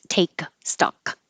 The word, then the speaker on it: take stock: and the K here that means you don't have to have a um a good case take stock just hold your tongue in the K position it's going to be